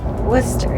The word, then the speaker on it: Worcester: Is that how you say it? Worcester? Worcester, yes.